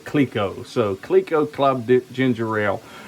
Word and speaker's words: Clicquot: So, it's uh you know, c c l i c q u o t is actually pronounced k l e e k - o, Clicquot.